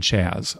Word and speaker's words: Chaz: show sincerely Chaz the second Z is silent in Chaz Oh I pronounced it wrong the first time I said it then